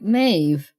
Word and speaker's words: Maeve: to pronounce murder correctly it is a v sound like I was watching